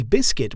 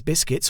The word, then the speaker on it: biscuit: No, we don't pronounce the letter U in the word biscuit.